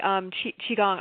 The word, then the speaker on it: Qigong: Yeah, it's actually Qigong.